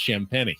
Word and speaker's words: Champagnie: It's spelled like champagne with an extra I, but it's pronounced Champagnie.